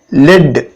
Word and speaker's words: lead: Example பார்த்தோன்னாக்கா LEAD, லெட் அப்படின்னு படிக்கிறோம், லீட் அப்படின்னு படிக்கிறோம். லெட் அப்படிங்கிறது LEAD, அது வந்து ஒரு மெட்டல்.